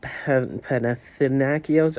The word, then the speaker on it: Panathinaikos: Greek team Panathinaikos. I learned how to say it a couple days ago. Panathinaikos.